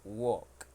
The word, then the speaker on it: walk: W with L because in that word the L Sound is silent so we only say walk okay walk you understand